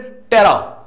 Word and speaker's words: tera: तेरा जो मैंने बोला, देखो वहां मैं तेरा बोल रहा हूं, बट यहां क्या होगा उसको बोलेंगे प्रोनाउंसिएशन में टेरा।